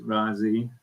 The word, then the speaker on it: Raasay: love rasi um it's if you're from rasi it's Razzi it's kind of like razzled Dazzle I always think so that kind of